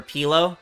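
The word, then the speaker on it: Pi'illo: now it looks like is it pronounced pillow you never knew but that seemed easier I don't know if that's I think it's pillo but or pilo but I just say pillow cuz it's faster easier and it gets the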